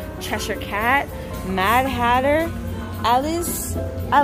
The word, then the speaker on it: Cheshire: I wanted to see the sweatpants you cut Cheshire haha for all my people in the UK watching I said it right Cheshire Cheshire Cat Mad Hatter Alice I love this and